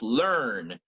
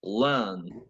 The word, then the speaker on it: learn: in British English exactly for an American it's learn for British it's learn learn so we are in the final position but also very near the end before a consonant PR is dropped it's not pronounced so you get it